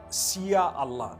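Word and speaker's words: Insya Allah: If you look at, the Malay language, they write in Sia Allah, the SYA. They pronounce the SY the way we pronounce SH.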